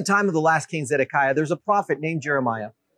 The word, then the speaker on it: Zedekiah: His name was Zedekiah in Hebrew pronounced sidki.